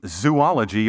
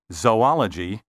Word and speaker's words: zoology: vehicle and herb and don't say zoology or zoologist as if these words had three o's say zoology and zoologist also don't